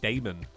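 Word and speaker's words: Daemon: Oh, I don't like demon spelled like that. It's more like Damon. Rapid Damon's Flame. In Britain, that would be Damon.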